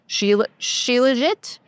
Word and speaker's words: Shilajit: I saw Shilajit. Apparently, it's how you pronounce it.